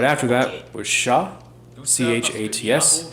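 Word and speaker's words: chats: right after that was Sha c-h-a-t-s Sha you don't pronounce the final consonant that means cats dogs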